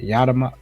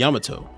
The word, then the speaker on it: Yamato: Prize B is Kira Yadama. How do you pronounce this guy's last name? Yamato.